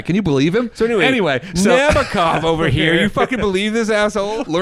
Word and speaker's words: Nabokov: I'm like okay that's how you say it Nabokov and then the teacher was like no it's naov and I was like sorry I listen learn